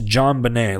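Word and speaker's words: JonBenét: It's like, it's Jean. It's spelled Jean. I don't know how to fucking spell this. Fucking French people. It's John Bonet, like John Bonet Ramsey.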